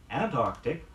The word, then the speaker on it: Antarctic: around the North Pole Antarctic AMT a RC TRC refers to the region around the South Pole be sure to song the sound in both words say after me first